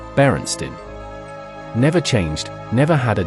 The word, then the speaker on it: Berenstain: Chances are you said Berenstein with an E. It was always spelled with an A, Berenstain.